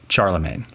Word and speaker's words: Charlemagne: with Charles the great usually known in English by the badly pronounced French version of that name Charlemagne Alcuin has been called